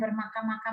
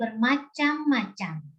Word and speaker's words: bermacam-macam: Ini membacanya bukan bermakam-makam loh, ini bermacam-macam.